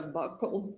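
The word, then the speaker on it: buccal: the jury what a bugle swab is? So a bugle swab or a buckle swab depending on different people say it different ways. It's spelled B U C C A L and that is a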